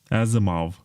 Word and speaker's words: Asimov: Asimov. How do you say that in American English? I say Asimov. Asimov. We say Asimov here in Eastern Europe. It sounds classier.